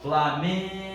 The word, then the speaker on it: Flamengo: torcendo pelo time e essa vogal a que se estende ó Flamengo essa vogal que se estende galera é a minha sílaba tônica Você pode falar tudo